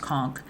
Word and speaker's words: conch: It's pronounced conchk.